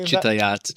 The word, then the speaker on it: Chitayat: Chitayat, Chitayat. Chitayat. Depends on where you are, what language you're speaking.